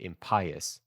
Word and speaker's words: impious: I'm going to write in impious actually, because Otherwise, I would pronounce it impious. But I think both are correct. I don't know. But it's clear that based on the rhyming scheme, Chapman wants it to be impious.